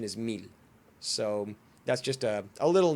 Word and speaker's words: Mil: little annoying to me because she calls him Mil, and the Spanish pronunciation is Mil.